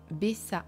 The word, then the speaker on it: Bessaa: été créé par Mona bessaa il faut bien prononcer bessaa parce qu'il y A 2A et Karen chevalier Mona